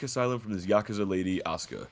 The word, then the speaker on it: Asuka: from this Yakuza lady, Asuka, or Asuka as they pronounce it, as we escape to the second island, Staunton.